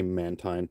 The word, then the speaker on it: Mantine: pronounce it spotlight hour i like to say mantine because it's like a man time i don't know anyway